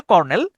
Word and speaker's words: colonel: কর্নেল, কর্নেল উচ্চারণটা হচ্ছে কর্নেল, কিন্তু আপনি যদি স্পেলিংটা দেখেন সেক্ষেত্রে হচ্ছে COLONEL, উচ্চারণটা হয় হচ্ছে কলোনেল।